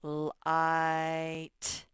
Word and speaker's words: light: their trip before okay this word it has some silent letters in it these this g and h all they do is make the i say its name so it's going to say light you just skip right over these light so what